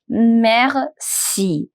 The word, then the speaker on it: merci: say thank you in French we say Mery me mer now if you're not able to achieve that accent that air it's okay that's not the complete French you can just simply say basic pronunciation also you can use Mery Mery mer it comes with the time it comes with a lot of practice mer Mery Mery Mery